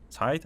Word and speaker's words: Zeit: I don't know if we should the name, pronounce the like it's a German word, but I would go with that.